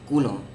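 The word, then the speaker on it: coulomb: The charge of one electron is - 1.6 into 10 ^ -19 kum. Okay. Kum is the SI unit of charge. This is how you spell it.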